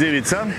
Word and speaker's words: Ivica: My name is Ivica, and it's pronounced same as pizza. So same this pizza? CA is pronounced in Croatian like pizza.